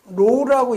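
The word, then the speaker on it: ρ: 여러분이 요거 읽을 때는 요거는 점도는 뮤라고 읽는다고 그랬어요. 요 밀도는 로우라고 읽죠.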